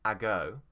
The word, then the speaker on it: ago: beginning of this word instead of being a go it's actually a go a go the stress is on go repeat after me a